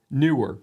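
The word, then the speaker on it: Neewer: that extra e but the company does say newer so I'm talking about today a newer ms60 C now what is this so historically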